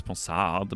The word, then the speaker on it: Ponsard: It's Ponsard, basically in French.